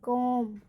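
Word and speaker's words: comb: जैसे एग्जाम्पल, सी ओ एम बी, सी ओ एम बी, एम बी में बी का उच्चारण नहीं होगा। सी ओ एम बी, कॉम, और डी यू एम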